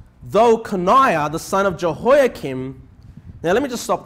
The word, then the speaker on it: Jehoiakim: Jehoiakim. But yeah, this H is silent. So Jehoiakim, okay?